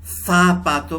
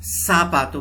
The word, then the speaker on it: zapato: तो ZAPATO को ज़ापातो भी प्रोनाउंस कर सकते हैं, सापातो भी प्रोनाउंस करते हैं।